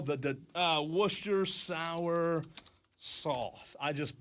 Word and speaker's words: Worcestershire: How do you spell the Worcestershire sauce? I just butchered it. Okay, it's Worcestershire.